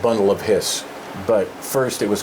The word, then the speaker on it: His: It's spelled like bundle of his, but it's pronounced Hiss, and so we spelled it that way.